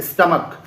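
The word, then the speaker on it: stomach: इसको कॉपर पढ़ने हैं स्टमक इसलिए क्योंकि के की तरह प्रोनाउंस कर रहे हैं तो इसका जब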